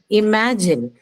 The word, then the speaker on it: imagine: So the stress is on the second one. So E, ma. That's the second syllable.